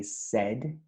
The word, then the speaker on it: said: says turns into said we do not pronounce the i so we say said tell turns to told